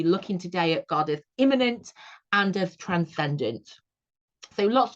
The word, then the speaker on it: immanent: It is spelt with an A. Very similar, isn't it, to the word immanent, which is when something is immediate. Immanent, if I can pronounce it like that for emphasis, is the belief that